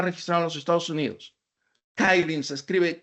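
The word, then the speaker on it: Kylin: porque Apache está registrado en los Estados Unidos kin se escribe k y L y n kin nace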